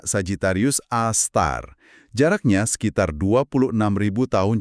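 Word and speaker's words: Sagittarius A*: Bacanya Sagitarius A Star.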